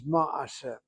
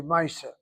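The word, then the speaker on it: מעשה: with that shorish is ma'aseh. It's a good word to know, ma'aseh. The Ashkenazim who speak Yiddish say Maisa. The proper Hebrew is Ma'aseh.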